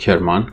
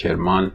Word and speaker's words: Kerman: however there is a city called kirman which can be pronounced kerman or kermun sometimes so it's also a